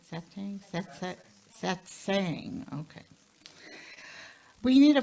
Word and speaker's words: satsang: Satsang?